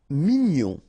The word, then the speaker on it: mignon: Mignon. Okay. Here in that case, G-N-O-N, gnon.